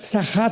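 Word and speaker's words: שחת: Esta palabra corromper es la palabra hebrea sachat. Sahat con s de Samuel y ch. Sachat. Sahat se pronuncia, que significa corrupción moral.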